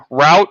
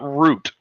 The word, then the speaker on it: route: oh here comes Ian it's pronounced route not root I'm also from New